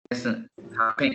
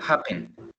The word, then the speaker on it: happen: No es happen, sino que happen. Happen. El acento lo tiene al inicio.